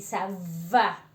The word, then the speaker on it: ça va: Entonces ahí vemos que esta C con una colita así no existe en el español, se lee como S, ¿de acuerdo?